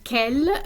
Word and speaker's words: quel: You see quel, Q-U-E-L, and quelle, Q-U-E-L-L-E. They are pronounced in exactly the same way, but they have the same meaning.